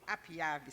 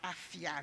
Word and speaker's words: APIAVI: C'est APIAVI, c'est pas AFIAVI. Non, APIAVI.